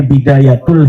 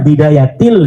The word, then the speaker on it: bidayatil: Kenapa ada huruf jer B katanya dibacanya bidayatul hidayah? harusnya bidayatil hidayah.